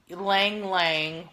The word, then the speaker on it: ylang-ylang: collection so and I never know that I pronounced this one exactly right but ylang ylang y la ng y la ng ylang-ylang is